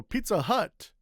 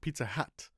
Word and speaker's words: Pizza Hut: So pizza hut is a hut. It's not pizza hat.